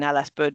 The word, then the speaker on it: LSBUD: So all of that good stuff is exactly why I motivate was motivated to to step into the the life in Ellisbud because I think it's a no-brainer really.